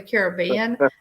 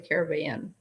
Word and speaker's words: Caribbean: kind of a thing most people that you hear say pirates of the caribbean say pronounce it that way current pirates of the caribbean uh with the you know the accent on the be in in caribbean yeah well men brown